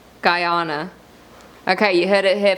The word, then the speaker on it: Guyana: it should be but no it is to be said as guyana guyana guyana okay you heard it